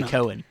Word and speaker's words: Coen: Oh, Coen. Coen brothers. Okay. Is that how you pronounce that? I say Cohen.